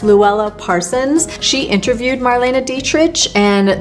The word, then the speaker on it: Dietrich: interviewed Marlene Dietrich, and the way I'm saying her name is exactly how Marlene said it should be pronounced, that most people would pronounce it as Marlene Dietrich, but no. It was Marlene Dietrich, which is a little hard for me to get used to because I did always say it the wrong way.